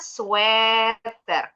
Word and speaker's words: sweater: Sweater atau sweater yang penting bacanya bukan sweer. Ini orang Indonesia bilangnya pakai sweeternya bukan sweer. Sweeter itu lebih manis kalau pakaian ee baju hangat. Nah, bacanya sweater.